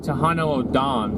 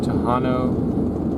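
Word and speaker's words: Tohono O'odham: always say it wrong I always say it Toano o d just cuz it has it's just tahano so whenever you going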